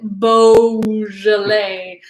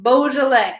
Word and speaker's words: Beaujolais: everyone to know this and to know to pronounce it Beaujolais so bougie people drink Beaujolais but it is pronounced Beaujolais also non bougie people drink Beaujolais and everyone